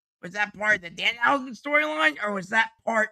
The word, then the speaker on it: Danhausen: This whole thing with Danhausen. I know that you and no. You said it wrong. It's Danhausen.